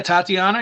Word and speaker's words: Tatiana: We had Tatiana. Did I pronounce that correctly? Yeah, Tatiana.